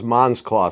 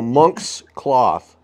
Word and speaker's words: Monk's Cloth: It was coming out as Mons Cloth, so that's why. So Monx Cloth.